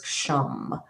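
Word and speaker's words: ksham: How I learned it was the bija sound was kasham and it was like a silent k and then sh h a m kasham like kazam like kazam. but or Shazam but sham. So I always say sham.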